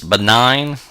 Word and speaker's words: benign: our seventh word is benign that's pronounced nine as in the letter nine but it's spelled nign any time you have